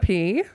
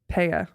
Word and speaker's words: Pea: my good friends, Pea. Pea? Yes. I guess we're not that good of friends. Pea, I've been saying P the whole time.